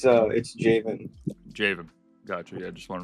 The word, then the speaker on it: Jaivin: How do I pronounce it? No, it's beautiful. Is it Jaivin? Jaivin? It's Jaivin.